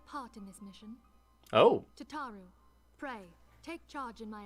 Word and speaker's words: Tataru: It's like, ta-ta for now.